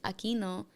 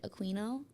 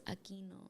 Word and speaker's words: Aquino: It's Aquino, but every single time like I would have like, you know, white teachers be like Aquino, Aquino, like bro, it's Aquino.